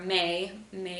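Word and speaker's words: mme: our host mom so our may may is how you say mom or like Ms and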